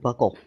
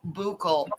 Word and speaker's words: buccal: I've always heard it said buckle. No, it's a mucosal buccal. It's a buccal fat pad flap. I call it buccal too. Buckle, buccal, yeah. Tomato. Buccal is the actual word. People mix up buccal and buckle all the time, but it's a buccal swab.